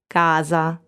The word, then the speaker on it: casa: on the other hand s is voiced between two vowels and in that case it sounds like this casa so it's it is